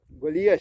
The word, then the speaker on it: Golias: Golias.